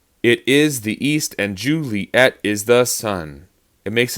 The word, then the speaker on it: Juliet: Juliet. But Juliet can also be said Juliet. So it's two syllables instead.